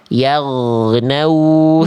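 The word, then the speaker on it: يغنوا: Ketika huruf waw bersukun diawali oleh huruf berharokat fathah, terdengar bunyi vokalnya O, seharusnya vokal U. Nah, tadi yang saya dengar Bunda bacanya begini. Perhatikan. Yaghnau fiha.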